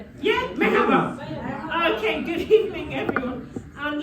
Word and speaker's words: merhaba: Yeah, merhaba.